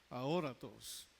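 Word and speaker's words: ἀόρατος: La palabra y original es aoratos o aoratos con acento en la ahoratos.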